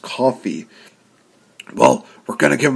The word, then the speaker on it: Coffey: It's looks like Kofi, but it's pronounced coffee.